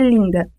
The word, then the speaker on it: linda: Por exemplo, na palavra linda, a vogal I é nasalizada, IN, e a consoante nasal alveolar, embora escrita com a letra N, não é pronunciada.